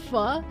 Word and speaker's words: pho: Actually, it's pronounced pho.